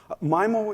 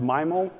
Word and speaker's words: MIMO: the time to vote is it pronounced myo or mimo and it turns out around 65 of the people attending the meeting thought myo was the appropriate way we should go forward around 24 said mimo 35 either in care